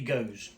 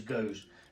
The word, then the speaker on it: Gose: Now, it is actually Gose.